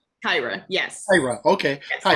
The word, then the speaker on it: Kyra: Do you say Kyra? Kyra, yes. Kyra, okay. Yes, Hi, I always say Tyra with a K, right?